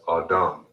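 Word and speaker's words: אדם: Man in Hebrew is pronounced as Adam.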